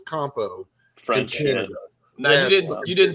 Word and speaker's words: Campeau: name if you're watching c a m p e auu somehow equals compo now you didn't you